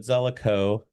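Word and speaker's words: Zelikow: and 911 attacks, but Zelico, that's the proper way to pronounce that, was determined that would not succeed.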